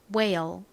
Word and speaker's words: whale: 그래서 이중자음 WH는 우 소리로 쓰이거나 히읗 소리로 쓰이는데요. 이 단어에서는 W의 소리, 우 소리로 쓰였어요. 자, 우 소리와 ale 할 때 에 소리가 합쳐지면요. 우에, 왜가 됩니다. 그래서 발음해보면 요렇게 돼요.